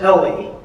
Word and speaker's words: ELE: So the my protagonist is E L E pronounced Ellie and the other version